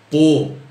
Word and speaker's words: Pau: o time na França que se escreve pão mas se fala por e os meias maze